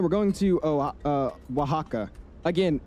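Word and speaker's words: Oaxaca: We're going to Oh, uh, Wajaka again. It's spelled O Ax something something something something, but it's pronounced Wajaka beyond me.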